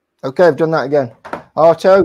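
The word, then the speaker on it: Artaud: Artto. Yes. Like uh toe.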